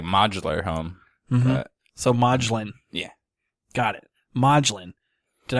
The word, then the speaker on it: Modglin: yes I got like modular home mm-hm so maudlin yeah got it madlyn did I say at